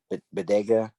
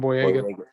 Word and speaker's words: Boyega: Jordan, or John Bodega. I think that's, or Boyega. I might be saying his name wrong, but he was in some of the newer Star Wars. Yeah, John Boyega. Boyega, yeah, in the newer Star Wars movies.